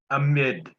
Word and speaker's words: amide: there diisopropyl two isopropyls a mid it's in a conjugate base of an amine is spelled amide but you should say amid because it's not an a mine all of that talk